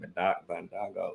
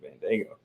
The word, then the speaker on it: Bandaogo: I said Bandaogo. So you said Bandaogo.